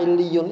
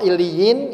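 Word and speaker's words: عليين: Allah tegaskan lagi, tahukah kamu apakah illiyun itu? Ya, jadi kalau illiyin itu kalau dalam bahasa Arab namanya mansub, ya. Kalau marfu'nya illiyun, ya sama aja, cuma cara bacanya yang beda.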